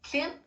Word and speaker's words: Klimt: Is that how you say his name? Klimt. Klimt. Yes. Klimt goes to Hawaii.